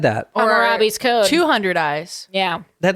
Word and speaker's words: Hammurabi: Careful, you gotta careful how we pronounce it because I almost said Harambe. Actually, when I said it, I was like, am I saying the gorilla's name? I'm glad you said it. No, it's Hammurabi.